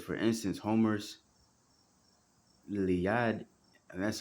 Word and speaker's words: Iliad: It says, for instance, Homer's Iliad, and that's how you pronounce it, has fewer, I guess it's his